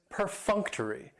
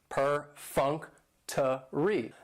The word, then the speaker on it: perfunctory: And perfunctory has 4 syllables, and the stress is on that second syllable, that funk, perfunctory. That third syllable has the schwa, and it's going to end with that long E sound, perfunctory.